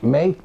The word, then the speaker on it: Meade: Dicen que deben de decir May, yo lo pongo Meade porque así se escribe.